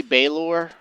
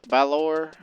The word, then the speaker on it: Balor: It'll probably be Balor or Balor. It's spelled like Valor, but with a B.